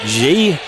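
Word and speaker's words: Gaynier: the night Paige G it's spelled g g a y n i e r pronounced G out front to Brena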